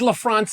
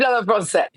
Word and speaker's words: à la française: Eggs La France. You have inspired my wife to perfect it. I know I didn't say it right. Can you help me? How do I say it? Eggs à la française.